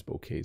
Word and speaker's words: bouquet: to pronounce it but it's basically b k bouquet bouquet so Jen likes to